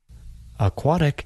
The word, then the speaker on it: aquatic: Aquatic can be difficult to pronounce. It has three different vowel sounds. A, A, I. We can study these vowel sounds by breaking the word into three parts.